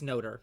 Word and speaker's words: Notre: It's Notre, because Notre. That's how Notre Dame is spelled.